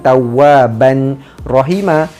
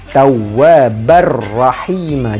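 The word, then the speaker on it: تَوَّابًا رَّحِيمًا: Terus masuk, bukan tawaban rahima, tapi tawwabar rahima. Jadikan ba satu baris dan terus masuk pada huruf ra.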